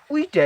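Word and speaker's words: ㅟ: এই যে উইটা, এটা আমরা উচ্চারণ করব দাঁতের দাঁত চাপ দিয়ে, তারপর উচ্চারণ করব উই, তাইলে শুদ্ধভাবে আমরা উচ্চারণ করতে পারবো।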